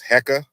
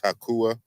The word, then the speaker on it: Heka: the ancient Egyptian language, you may have heard of a word that Egyptologists colloquially pronounce as Heka. She says Hakua in the presentation, which I showed here.